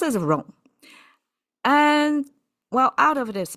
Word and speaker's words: 冗: And this one is called rong. Pronounced as rong.